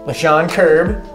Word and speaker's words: Lechon Kirb: Carrie rose and we well I am here with LaShawn kirb am I saying it correctly yeah you nailed it dude here we go and dr.